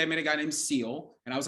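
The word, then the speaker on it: Sil: I was like, okay, all right, and it's spelled S-I-L, and I was like, oh, like so it's like Sylvester? No, he's like, it's Seal.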